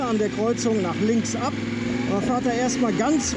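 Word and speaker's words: Å: der Kreuzung nach links ab und fahrt da erstmal ganz runter in den Süden. Ja, und zwar fangen wir da ganz vorne, quasi bei A an. A bzw. O ausgesprochen, ist der südlichste Ort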